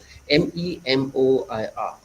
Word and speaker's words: memoir: the other one is memoir it's a french word as we know english is a roger language it talks other language into english so memoir m-e-m-o-i-r we pronounced as memoir who cares as long